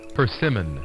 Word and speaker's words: persimmon: Persimmon? I'm not sure. Let's see. Here we go. Persimmon. Persimmon. Oh, I guessed it. Wow. Okay, so it's quite different from the Finnish way of saying persimon.